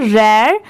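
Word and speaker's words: rare: आर ए आर ई यहां पर र नहीं पढ़ेंगे इसे। इसकी प्रोनाउंसिएशन क्या है? रेयर यह है हर्ब।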